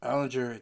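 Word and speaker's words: Allgeier: Allinger, that's how you say his name, had 8 attempts for 20 yards and a touchdown.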